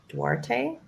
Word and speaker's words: Duarte: So 1525 Huntington Boulevard, and that's in Duarte, California.